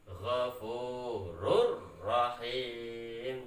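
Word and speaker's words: غَفُورٌ رَحِيمٌ: Jika ada tanwin bertemu dengan ro, maka harus diidghamkan tanpa dengung. Cara bacanya Ghafurur Rahim, seperti itu.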